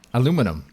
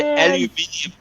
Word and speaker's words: aluminum: Aluminum. I said it right. Becky. Did I? At least one of those times. Aluminum. Aluminum. Okay. You don't say aluminium.